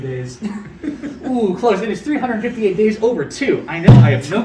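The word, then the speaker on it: 358/2 Days: It is 358 days over 2. I know, I have no clue why it's spelled like that.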